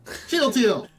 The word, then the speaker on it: Shield Teal: You not pronounce it like Captain America saying Shield Sword! Shield Teal!